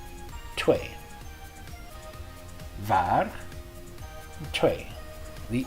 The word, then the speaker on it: twee: So you can say twee or twee. You don't want to give the W a really strong W. You don't want to say twee, but a very light W. So just twee, twee.